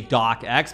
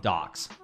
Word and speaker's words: Docx: As awesome as it is to say DocX, because of course, Microsoft Word, the extension ending is .docx. The correct way to say it is docs, apparently.